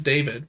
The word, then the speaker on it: D4VD: The second one's name is David, but it's spelled D4VD.